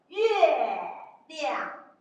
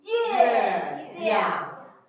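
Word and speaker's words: 月亮: Okay, we call it 月亮. So if we like, repeat after me. 月亮.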